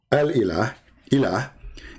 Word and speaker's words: Ilah: But al-ilah, ilah, is simply E-L, and there is little H at the end, like a sound of a music. Ilah. Still, it's ilah. It's not Allah.